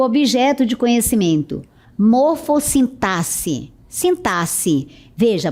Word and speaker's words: sintaxe: Sintase. Veja, a pronúncia é sintasse.